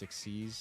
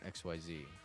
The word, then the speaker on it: Xyz: By the way, it's pronounced exceed, not XYZ.